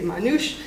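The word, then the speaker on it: মানুষ: it seems like um manus would have been the natural celletti pronunciation but the bengali manusc has become uh more standard so nobody says manus anymore they just say manush which causes a problem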